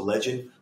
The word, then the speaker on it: LGND: That LGND stands for legend. We just don't spell it.